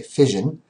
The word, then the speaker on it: fission: So, when you see the word fision, okay, pronounced sort of like if you had an accent on on fishing, okay, fision.